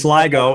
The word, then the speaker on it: Sligo: We ended up playing Sligo, we did 18 at Sligo.